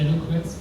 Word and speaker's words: eloquence: Just the eloquence, is it pronounced, is it more elle or elo? Eloquence. It's not elo. Hello. Eloquence. Eloquence. Thank you.